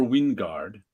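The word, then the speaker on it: Wijngaard: this issues artist is Casper Wingard or however you say his name that's how I've been saying his name but it's w-i-j-n-g-a-r-d um and the reason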